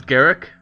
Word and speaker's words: Garruk: I'd like to note that I'm aware most people pronounce his name as Garrick, but for as long as I could remember, me and my friends have always pronounced his name as Garoo.